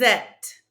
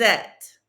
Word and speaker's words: êtes: Vous êtes. Don't pronounce the ES. Vous êtes.